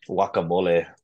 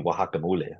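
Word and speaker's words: guacamole: we say today in English are because was mispronounced you know what I mean like wacamole for example it's actually supposed to be wakamole but because the Spaniards couldn't pronounce it we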